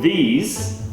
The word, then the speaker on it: these: But then if you're talking about the plural one, these, multiple objects that are here, then in that case, it's a long E sound, E. So the difference in the vowel is I versus E. Another thing that will help